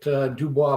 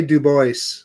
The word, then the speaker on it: Dubois: Yeah, that's how I pronounce it too, Lauren. I know, but the locals say Du Bois. Du Bois? Yeah. What do they know? Yeah, well, that's the conundrum, isn't it? We know that the correct pronunciation is Dubois.